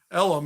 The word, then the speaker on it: Elohim: But he is friends with another 5-star recruit from that 2024 class, Isaiah Elohim. Elam is how I pronounce it.